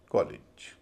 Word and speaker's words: college: तो LEGE को बोला जाएगा लिच, लिच। पूरे शब्द का उच्चारण होगा कॉलेज, कॉल इज, कॉलेज।